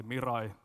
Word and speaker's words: Mirai: I don't know how to pronounce it in English, so I'll say Mirai, like in Finnish.